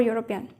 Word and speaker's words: european: sound of years so we place or before european we can't say i'm mate and european yesterday